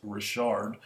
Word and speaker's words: Richard: that how that's pronounced not Richard it's Rashard running back for Oakland